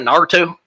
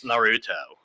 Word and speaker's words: Naruto: I get under my daughter's skin whenever I mispronounce it and call it, "You watching that Naruto?" Dad, it's Naruto.